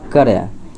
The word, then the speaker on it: कार्य: तो इसमें कहता है कौन सा जो है गलत है, तो ये हो जाएगा करय। ये करय जो है इस प्रकार से नहीं होगा, ये जो है कार्य होगा, सही उच्चारण यानी कि सही लिखावट की दृष्टि से।